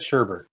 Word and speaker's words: sherbet: So you pronounce that sherbet. Yeah. There's no R before the last T.